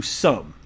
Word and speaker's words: Xumm: And by the way, before reading this, for those of you unaware, he has created Sum, it's spelled XUMM, which can be a replacement for this.